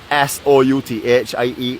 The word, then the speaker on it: Southie: We now have, I don't know what my friend Joy wants me to tell you how to pronounce SOUTHIE except for Southie.